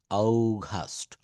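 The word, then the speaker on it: August: বলছে জানুয়ারি, জানুয়ারি, ফেব্রুয়ারি, ফেব্রুয়ারি, ফেব্রুয়ারি, March, March, April, মে, June, June, July, অগাস্ট, অগাস্ট। দেখেন আমরা আগস্ট বলি, এটা সঠিক উচ্চারণ হবে অগাস্ট, September, October, November, December, December.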